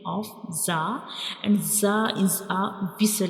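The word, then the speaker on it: ظ: So this is the pronunciation of zah and zah is a visel letter.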